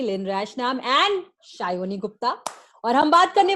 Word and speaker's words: Sayani: दूसरा सयानी गुप्ता नहीं, शायोनी गुप्ता।